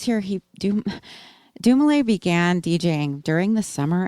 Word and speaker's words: Dumile: Doom, is also a play on his name, pronounced Dumile.